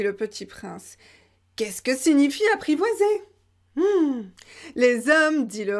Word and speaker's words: signifie: Donc ça, vous voyez, signifie, c'est un mot que j'utilise beaucoup. Signifie. On prononce comme N.